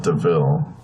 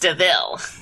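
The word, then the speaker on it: De Vil: new name is cruella deville it's spelled devil but it's pronounced deville you sound just like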